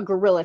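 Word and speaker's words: guerrilla: okay um yeah and not even spelled like gorilla it's spelled g-u-e-r-i-l-l-a but so the theater i was performing on friday is more of a gorilla theater a more raw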